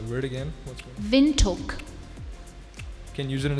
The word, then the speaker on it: Windhoek: Also, it can also be pronounced as Windhoek. Windhoek or Windhoek. 20 seconds. Windhoek. Winttoke. Windhoek. That is incorrect, I'm sorry. It's Windhoek.